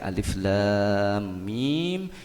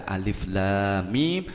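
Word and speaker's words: الم: guru ngaji seperti halnya ketika membaca Alif Lam Mim itu beda dengan membaca alam toroh Hai tulisannya sama Alif lam mim Tapi bacanya bukan alamat bacanya bukan halimi atau bulumu tapi membacanya secara terputus-putus dan ini kita membutuhkan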